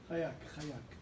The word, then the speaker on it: Haik: Ou bichlalam pour, j'espère bien le prononcer, Chaik, H-A-I-K. Comment tu prononces? Chayak.